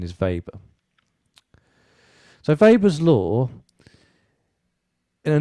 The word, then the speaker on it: Weber: called vapour's law okay weber was german so you know you see it written as a weber the the correct pronunciation is weber so weber's law in